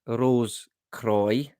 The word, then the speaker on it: Rose Croix: On hearing Rose Cross or Croix pronounced Rose Croix, caught my interest even more.